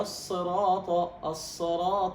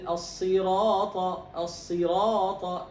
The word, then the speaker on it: الصراط: هنا جاء بعدها فتحة، فتقول اهدنا الصراط. هذا إيش؟ تخليص الكسرة. هذا خطأ. النطق هذا صواب ولا خطأ؟ خطأ. اهدنا الصراط خطأ. نعم. الصواب اهدنا الصراط. لابد أن تكمل، أن تعطي الكسرة حقها. نعم.